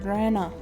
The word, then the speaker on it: レナ: お礼の礼に奈良の名。竜宮レナが本名ですのよ。It's the Rei from Ore and the Na from Nara. Her real name is Reina Ryugu. レイナか。 Reina, is it? それでレイナじゃなくてレナって読むのか？ So it's read out as Rena instead of Rena? 面白い読み方だよな。 That's a pretty interesting reading. いいえ、違いますです。レイナで正しいのです。No, that's not it. Reina is the correct way. レナさんが言ったのですわ。レナと呼んでほしいって。Rena-san had told us that she wants us to call her Rena.